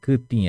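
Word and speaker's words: kytĩ: Kutim. Essa palavra kutim é mais difícil de pronunciar. Lembrem-se sempre de falar congela a língua.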